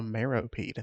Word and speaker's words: Meropide: Oh, Meropide.